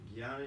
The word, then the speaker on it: Jnana: How do you pronounce it? Jnana.